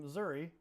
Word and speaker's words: Missouri: Go south when the weather's colder in the northern part of the states in Missouri or Missouri depending where you're from. You might pronounce it either way.